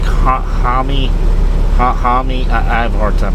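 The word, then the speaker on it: Jaime: The Blue Beetle, I know it's not Jamie, it's like Hami.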